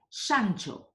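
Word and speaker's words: Szántó: name was ed Endre Santo a name which is pronounced more or less like Santo in Italian and this reinforced in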